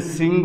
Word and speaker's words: শৃঙ্গ: পর্বত শৃঙ্গ, আমরা এই যে শৃঙ্গ বললাম, এইখানে এই স-এর উচ্চারণ এস এর মতো বা দন্তস্বয়ের মতো।